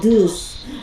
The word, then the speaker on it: deuce: this what we call deuce pronounces d-o-o-s and this will be